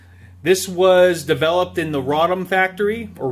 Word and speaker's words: Radom: This was developed in the Radom factory, or Radom, however you like to pronounce it.